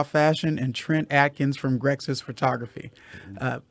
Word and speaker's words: Grexsys: and trent adkins from grexis photography uh is that the right way to say that that's correct i always was wondering like it was just brexit because there's the xys